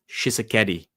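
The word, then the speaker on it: Tshisekedi: Shisakeeti.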